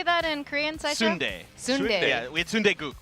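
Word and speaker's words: 순대: Sundae.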